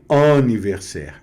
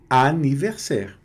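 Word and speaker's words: anniversaire: Então não é aniversaire, é aniversaire, tá certo?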